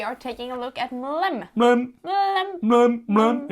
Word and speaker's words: MLEM: put their tongue out, it's said to make the sound MLEM. MLEM. So that's the name of the game, MLEM Space Agency. So if you now say it like MLEM or something like that, you have to just say MLEM Space Agency. It's a sound.